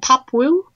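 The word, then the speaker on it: Pop Wuj: It was called Pop Woo, and the Woo is spelled W-U-J.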